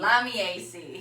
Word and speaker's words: Lamiaceae: found in the flower family of Miami AC lamiaceae that's right la vie AC I we looked it up how to pronounce it yeah so the AC family and